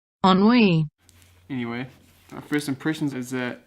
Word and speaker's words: Ennui: from Thoreau skate shop enough I'm pronouncing it right but it's how Google told me sir ennui ennui anyway first impressions is